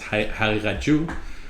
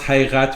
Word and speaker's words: Haqiqatjou: I pronounce Haqiqat with the Persian pronunciation of the qaf, not correct tajweed with qalqala. Haqiqat is very difficult. So Haqiqat. Persians make it more of a ghain sound, a ghain.